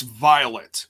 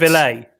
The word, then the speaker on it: Violet: It's Violet. It's not. Oh, it's- Villet. It's not Villet. It's It's violet, violet. like the flower.